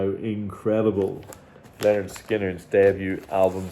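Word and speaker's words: Lynyrd Skynyrd: This is Leonard Skinner. Their debut album, pronounced Leonard Skinner, and their third album, Nothing Fancy.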